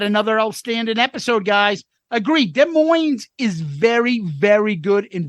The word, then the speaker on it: Des Moines: love both listening to Soundboard at Des Moines the S is silent in 77 and your